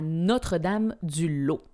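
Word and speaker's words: Notre-Dame-du-Laus: Quand j'ai déménagé de la Mauricie après mon bac, j'ai été habitée à Notre-Dame du Lot. Connaissez-vous Notre Dame du Lot ? Ça s'écrit L A U S, Notre-Dame du Lot.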